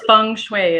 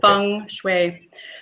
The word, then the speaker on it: feng shui: Am I saying it right? Yeah, it's feng shui is what it is. I was right. You were right. Yeah, okay. Feng shui.